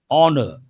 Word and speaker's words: honor: Here H is silent.